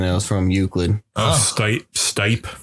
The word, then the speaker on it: Stipe: was from euclid oh stipe stipe is that how you pronounce it yeah okay stephen got knocked